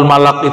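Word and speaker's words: ملك: Jadi yang pas bacanya malak, kan?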